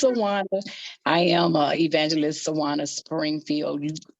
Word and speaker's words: Sjuwana: Number one, the way it's spelled is really, it throws everybody out. They be like, Suja, but it's Sjuwana.